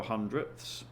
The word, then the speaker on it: hundredths: what that's worth nine hundredths good to know how to spell hundredths notice that sound at the end which makes it very